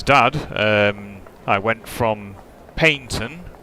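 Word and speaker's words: Paignton: So yeah, for um Tai's dad, um I went from Paintton, which is spelled uh with a G, um which is in Devon, via Torqui over to Newton Abbott.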